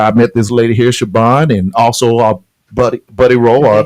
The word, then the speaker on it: Shibbon: met this lady here, Shibbon, and also Buddy Rowe, or the partner Buddy Rowe. You know, man, Shibbon with a V. It's spelled with a B, but it's pronounced with a V.